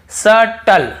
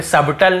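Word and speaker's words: subtle: आपको पढ़ा हूं फिर फिर देखिए यहां पर देखिए सटल सटल यहां पे सबटल नहीं पढ़ रहे हैं तो क्लियर हो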